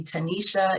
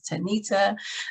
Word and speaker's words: Tanita: with name pronunciations because people still call me tanisha even though my name is tanita so even if they see it written it comes out a different way so i'm going to